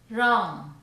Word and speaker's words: wrong: The letter W is not pronounced at the beginning of a word when the letter R follows. Here are some examples. right, wrong, wreck, wrinkle, wrestling, wrist, wrap.